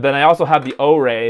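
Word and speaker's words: Orei: And then I also have the O-Ray, is how you pronounce it according to their own documentation.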